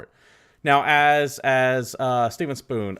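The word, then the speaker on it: Spohn: now as as Steven spoon I think his last name is spoon forgive me if I'm mispronouncing that it's I think it's spawn spawn spawn SPO HN okay I I'm just not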